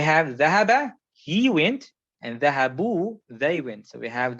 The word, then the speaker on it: ذهبوا: We always write the alif next to the wow like that, but you don't pronounce the alif, which is dhahabu.